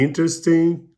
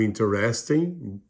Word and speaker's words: interesting: Is very interesting ou interesting, ambas as pronúncias estão corretas.